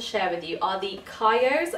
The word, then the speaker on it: Kyo: Okay, so the first pair of jeans I have to share with you are the Kyos. I believe that's how it's pronounced. K-Y-O, Kyo.